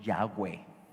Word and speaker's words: Yahweh: Otros le dicen Jehová, otros Yahvé y otros Yahweh, como la pronunciación más cercana.